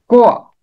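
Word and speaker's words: قوع: इसका दुरुस्त तलफ्फुज है शुआ, कोआ, ऐन के ऊपर जबर।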